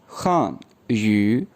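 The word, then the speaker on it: 汉语: ये प्रोनाउंस होगा खान यू खान यू खान यू खान यू।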